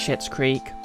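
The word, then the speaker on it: Schitt's Creek: like mystic mate oh it is pronounced shit's creek it's part of the joke premise you don't watch it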